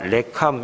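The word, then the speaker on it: ריקם: 선이라고 하는 그 10 우리말을 갔다가 레 캄 이렇게 발음을 하는데 공허하다 그런 뜻이고 쓸데없다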